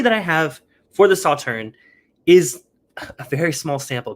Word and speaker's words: Sauternes: up the information here i keep saying saw turns but i think it's just pronounced saw turn is that right well i think it's around sawturn based on the videos i watched today um so this